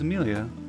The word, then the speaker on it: Amelia: The name butchered? No, it's not. She's Amelia.